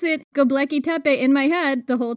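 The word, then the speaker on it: Göbekli Tepe: I thought that the pronunciation was globeke, like a globe.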